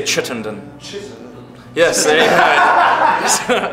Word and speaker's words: Chittenden: Richard, how do you say Chittenden?